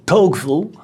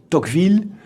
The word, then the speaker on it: Tocqueville: of the dogfield family americans pronounce his name as toefl but i will use the french pronunciation toqville not so much out